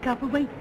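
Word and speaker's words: Copperwaithe: Copperwaite. And Miss Copperwaite, how do you do, my dear? Mrs. Copper what? I didn't get the last part of the name. Wait. Spelled W-A-I-T-H-E, but pronounced wait.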